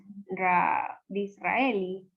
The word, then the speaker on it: Disraeli: ¿Saben cómo se pronuncia esa parte? Disraeli.